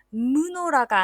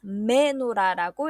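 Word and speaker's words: מנורה: 슈바를 단 mem이 단어의 어두에 있으니까 이때 슈바를 에로 읽어서 무노라가 아니라 메노라라고 읽습니다.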